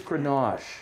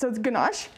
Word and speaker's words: ganache: so it's our chocolate cupcake with a whipped ganache buttercream and and then it looks like uh you're known for this grenache right what's so good about this grenache it's ganache and it's um in case you're doing closed